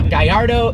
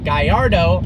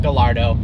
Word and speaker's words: Gallardo: island unfortunately it's the guy Ardo superleggera now it is pronounced guy our dough because the name is a Spanish fighting bull even though lambhini is an Italian company it is not Gallardo and it is superleggera